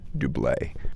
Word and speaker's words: Doublet: We're going up to Doublé. Some people call it doublet. My understanding is that the official pronunciation is the French Doublé.